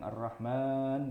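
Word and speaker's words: الرحمن: Mimnya itu kan sebenarnya dibacanya panjang Ar-Rahman gitu ya, tapi ternyata tidak ada alifnya.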